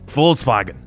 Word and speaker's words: Volkswagen: name is Paul swaggin I always do the German pronunciation like full swaggin a fine car Volkswagen